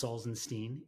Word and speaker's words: Salzenstein: think I have a beautiful last name it's salzenstein and I always joke because I get introduced